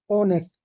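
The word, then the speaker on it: honest: ई एस टी ओ यहां पे H silent है इसको याद रखिए ओनेस्ट ईमानदार ठीक है मैड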